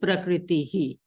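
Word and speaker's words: prakṛtiḥ: So now we will not go directly to sa. We will say prakritihi.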